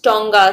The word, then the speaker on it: tonga: in the earlier times in hindi it is called tanga and the english word the word tanga has also been absorbed in english language it's pronounced as tonga spelled as t-o-n-g-a if